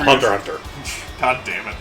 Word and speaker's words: Hunter x Hunter: Unlike Gun Sword, which is the X is not pronounced. Which is just gun sword. It's like Hunter x Hunter is Yes, it's called Hunter Hunter.